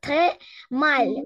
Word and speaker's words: très mal: Тремал. Вот, тре маль. У нас мягкая будет маль. Ле всегда будет мягкая. Тремал.